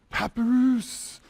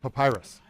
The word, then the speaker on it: Papyrus: Papoose. How do you say it? Papyrus.